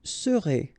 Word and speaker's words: serez: Vous serez, a Z together at the end, et serez, all right?